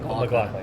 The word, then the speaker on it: MacLachlan: You had to build the two when Kyle, how do you pronounce his last name? McLaughlin, yeah.